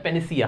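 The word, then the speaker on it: panacea: पहली बात तो इसका प्रोनाउंसिएशन मिस्टेक मत करना। पेन से एक वर्ड बनता है पेनिसिया। क्या होता है? पेनिसिया। क्या पढ़ा जाता है? पेनिसिया। बहुत सारे लोग पेनिशिया बोलते हैं इसको, पेनिशिया, जो कि गलत होता है।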